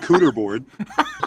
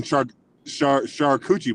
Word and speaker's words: charcuterie: I hope this isn't naughty, Patrick, but you can always go with cooter board. Yeah. And the other one, charcuterie board.